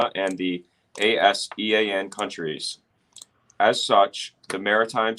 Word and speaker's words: ASEAN: Could you pull ASEAN countries, not Asian, but ASEAN?